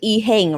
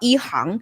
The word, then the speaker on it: EHang: Well, that's really cool because, their name, which is, we would pronounce it Ehang, right? But actually in Chinese, it would be called Ehang.